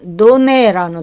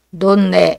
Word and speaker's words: donner: 파우도네는 노네라는 동사에서 나왔어요.이 노네라는 동사는 어 일반적으로 자음이 한 번 두 번 나오면 한 번만 발음하거든요. 노네. 그러나 어떤 단어들은음 이제 두 번을 발음할 수 있어요. 논내 이런 식으로 여러분이 편화 방식으로 발음하면 되겠어요.